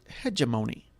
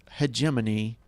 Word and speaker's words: hegemony: would talk in class they would pronounce it hemony think about that hemony now something that's obvious pronounced hegemony and they pronounce it hegemony they don't even know